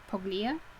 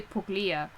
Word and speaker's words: Puglia: he had left paglia puglia is that how that would be pronounced p-u-g-l-i-a poglia probably poglia um as elaine bredehoff said in court while trying to defend an undefendable client i'm trying your honor okay so it must be like a uh um an italian word where they don't pronounce the g you're an italian place rather that makes sense lorenzo um he left